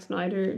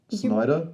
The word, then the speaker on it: Snyder: Snyder? Yes, you're putting like an H in there, or a CH thing. It's just SNYDER.